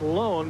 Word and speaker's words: Lon: Now, that is pronounced Lone, but it is spelled L-O-N.